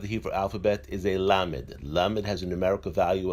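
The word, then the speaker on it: ל: The next letter of the Hebrew alphabet is a lamed. Lamed has a numerical value of 30. The lamed is pronounced as l. The next letter of the Hebrew alphabet is the mem.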